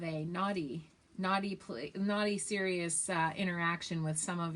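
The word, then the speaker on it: Ssirius: man um who and it's spelled serious like serious radio just to let you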